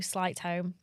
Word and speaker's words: Sleightholm: So my Instagram is slight home, which is Shall I spell it cuz no one can spell my surname.